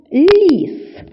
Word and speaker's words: ліс: де він живе слово ліс ліс ліс відчувайте як м'якоми вимовили перший звук ль А зараз складемо разом